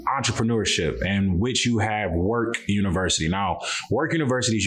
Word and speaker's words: Werk: jalil thurman corey before we get started into work universe and everything you got going on i